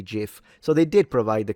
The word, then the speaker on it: GIF: Will it is adamant about pronouncing GIF like the peanut butter? Well, if he made the thing though, I mean, maybe he's right then. I suppose I'll say GIF.